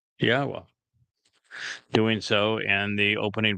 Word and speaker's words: Yahweh: It's a significant accomplishment since I painstakingly explain how one can prove that it is in fact pronounced Yahweh.